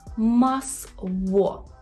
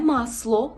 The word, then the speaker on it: masło: вимова в в наприклад у слові масво масво масво масво не масло це не є л у польський взагалі нема